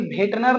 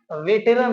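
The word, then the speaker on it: veteran: लेकिन भेटनर नहीं होता है, वेटेरन होता है। वेटेरन, प्रोनाउंसिएशन पे ध्यान दीजिएगा।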